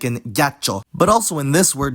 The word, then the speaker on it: ghiaccio: after the consonant to indicate this, like in ghiaccio.